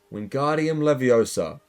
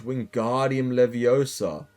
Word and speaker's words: Wingardium Leviosa: You're saying it wrong, Harry heard Hermione snap. It's Wingardium Leviosa. Make the guard nice and long.